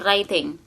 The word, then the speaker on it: writing: Writing, menulis. Tidak dibaca W-nya ya, atau tidak dibaca W-nya ya. Kita bacanya cuma writing, menulis.